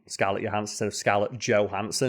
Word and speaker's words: Johansson: But yeah, the Europeans and the Danish pronounce that Danish word Johansson.